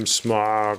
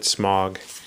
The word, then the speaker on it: Smaug: I am Smaug, I am death. Oh, I said Smaug. That's the very bad English pronunciation, the white pronunciation of it. Smaug is the correct pronunciation.